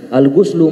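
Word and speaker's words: غُسل: Al-ghuslu mandi itu dengan membacanya dengan dhamma adalah maknanya ta'mimu jami'il badani bil ma', yaitu meratakan seluruh anggota badan dengan aliran air.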